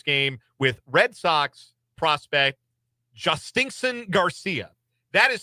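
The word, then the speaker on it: Jhostynxon: And uh I'll round out this look at uh players who will participate in this game with Red Sox prospect Justinen Garcia. That is spelled J H O S T Y NX O N.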